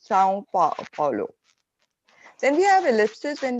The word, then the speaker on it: São Paulo: And in Portuguese, the same tilde is adding a nasal sound. So it becomes São Paulo.